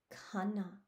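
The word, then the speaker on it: खाना: Khana. Khana is food. This is another tricky H word, so I'm not saying khana, it's khana. Do you hear how I'm pronouncing that H after the K?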